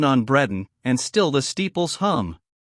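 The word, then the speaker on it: Bredon: bells they sound on Breen and still the Steeples hum come all the church good people oh moisy Bells be dumb I hear you I will come one pronounced Breeden xxi I the street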